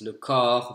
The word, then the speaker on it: corps: So be careful when you pronounce French, you want to practice your vowels. Le corps versus le cœur.